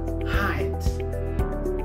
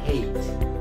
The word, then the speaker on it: height: Okay, the first word is supposed to be pronounced as height. Height. So since this is a one-syllable word, so the stress is on the first, of course, height, right? Many of us pronounce this word as hate. So it is incorrect, right? So repeat after me, the first word is height.